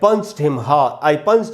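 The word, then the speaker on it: punched: यहाँ पंच डी से ख़त्म हो रहा है और डी को जनरली ड ही पढ़ते हैं, लेकिन यहाँ जो डी है इसको ट पढ़ा जाएगा, तो इसका प्रोनाउंसिएशन होगा पंच्ड।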